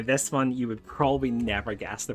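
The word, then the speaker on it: Niamh: And this one is pronounced neve.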